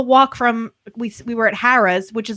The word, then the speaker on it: Harrah's: We were at Harrah's, which is like a mile walk to the boardwalk. Run. Is it pronounced Harrah's? I've been calling it Harrah's. No, Harrah's. It's Joe Harrah's.